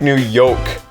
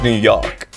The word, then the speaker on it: New York: You say it like New Yolk, like an egg yolk. New York. Yeah. It's New York.